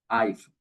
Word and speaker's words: iPhone: se pronuncie como Ay encontramos la palabra a iph no es ahí con que inicia se pronuncia como I iPhone y acá entonces Dentro